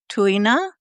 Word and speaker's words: Tuina: So you reminded me of Tuina.